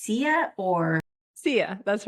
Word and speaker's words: Sia: And is that pronounced SIA or? SIA, that's right.